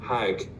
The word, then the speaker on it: hajj: now what's interesting is the word hajj is a direct arabic borrowing from the hebrew hague in fact in some arabic speaking countries including egypt they still pronounce it as hag so it's directly from